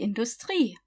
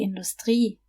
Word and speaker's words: Industrie: Die Industrie, the industry. You see how in English you would stress the first syllable? The irony, the industry. In German, however, you just stress the last syllable.